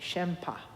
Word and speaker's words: shenpa: the Tibetan term uh called shenpa and I'll spell that in English s h e n p a shempa and it literally means other aware you know